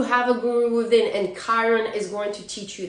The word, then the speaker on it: Chiron: opposition this is something um how do you spell it Kiron it's c h i r o n by